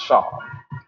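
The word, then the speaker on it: Seam: Pronounced Sham.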